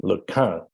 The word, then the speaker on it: LeCun: He corrected my pronunciation of his name, LeCun.